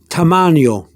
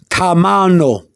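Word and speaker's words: tamaño: here again poor sioux force not for its tamannio tamannio okay let's see here termanio is the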